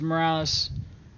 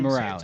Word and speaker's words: Morales: Morales, on the charge of PC 148 Alpha, resisting, It's delaying, or Morale. If you obstruction. want to say my name, Morales. say it right, please.